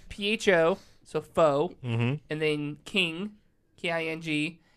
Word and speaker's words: pho: here, and it's PHO, so pho, Mm-hmm. and then King, KING, and then it's GUD, Pho King Good. It's pronounced pho.